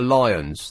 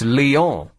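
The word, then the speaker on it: Lyon: French name's wrong like if I said I'm going to go all lions they' say oh don't be so common it's Leon and then you'll ask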